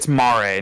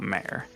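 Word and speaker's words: Mare: how you pronounce it as in italian or latin for ocean as opposed to female horse as in a mayor right right so it's marie not mayor yeah uh next up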